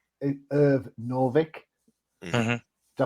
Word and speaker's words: Irv Novick: It's Irv Novick. Hmm. Hmm. Did I pronounce that right?